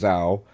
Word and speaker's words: Zau: So for me, Tales of Kinsera, ZAU, I pronounce Zao, come the African warrior shaman.